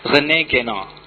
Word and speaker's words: René Guénon: René Guénon, bacanya dalam bahasa Perancis.